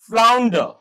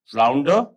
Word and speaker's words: flounder: इसी तरीके से flounder, flounder, R is silent.